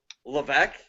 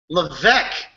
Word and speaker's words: Levesque: How do you pronounce that name? What? Levesque? Levesque. Yes, sir. Not at all how it's written.